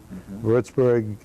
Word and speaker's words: Würzburg: us to würzburg Germany Lordsburg is how it's pronounced and that's the home